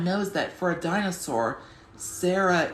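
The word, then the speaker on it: Cera: I always like Sarah the three-horn, but everyone knows that for a dinosaur, Sarah, it's spelled C-E-R-A, but for a human, it's S-A-R-A-H, and sometimes just S-A-R-A.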